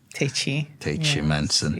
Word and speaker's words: Tachie-Menson: I like the pronunciation. Tachie. Tachie-Menson.